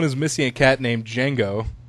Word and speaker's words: Django: The post says, if anyone is missing a cat named Django, pronounced Django, the D is silent, I stole him last night, not on purpose.